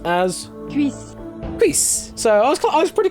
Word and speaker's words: cuisse: And Cuisse is pronounced as... Cuisse.